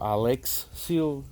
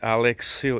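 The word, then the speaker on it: Alexseal: the boat in a Alex eel or Alex seal the they were they pronounced it for a reason that's extremely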